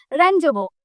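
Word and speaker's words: rendezvous: से इसको प्रोनाउंसिएशन करेंगे यह एक फ्रेंच वर्ड है। ठीक है ना? ये एक फ्रेंच वर्ड है। रजोबो। इसका क्या मतलब होता है?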